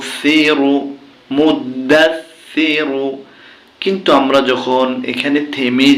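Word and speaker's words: مُدَّثِّر: দাস মুদ্দাস সাজে সি র পেশ রু সিরু মুদ্দাস সিরু কিন্তু আমরা যখন এখানে থেমে যাব তখন উচ্চারণটা হবে মুদ্দাসসির ইয়া দ্বিতীয় আয়াত অফে পেশ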